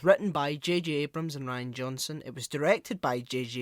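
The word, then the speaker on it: Rian Johnson: the record that um i know it is pronounced ryan johnson but whenever i see that name written down it just makes me think reen johnson rin yeah i know that's not his name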